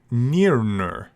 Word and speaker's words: Nirna: She pronounced the name something like Nirnur.